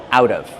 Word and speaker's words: out of: Pronunciation, out of. The T changes to a fast D.